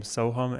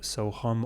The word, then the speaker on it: Sohum: is Ham, because, well, my name can be spelled Sohum or with an A, Soham, but the phonetic pronunciation doesn't translate as well when it's written as A. So my parents, they're like, let's put a U in there, make it easy for all of the Westerners to pronounce.